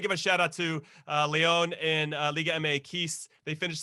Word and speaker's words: Lyon: It's Leon.